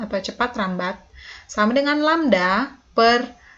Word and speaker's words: lambda: Jadi cepat rambat gelombang satuannya meter per second, lambda atau panjang gelombang, jadi lambang ini dibacanya lambda. Ya, karena ini adalah salah satu huruf Yunani, tapi artinya panjang gelombang, atau satuannya meter.